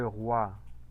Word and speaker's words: roi: Le roi, el rey. Entonces, ese diptongo como tal, ¿sí? Se pronuncia como. ¿Cómo lo escucharon? Toi, moi, roi. Yo lo escucho como gua. Un gua, ¿no?